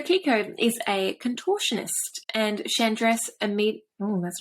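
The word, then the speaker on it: Chandresh: is a contortionist and chandras immediate oh that's not how you say it is that how i say it chan dressed is it like a shh or an i think it's a sh rather this yeah i don't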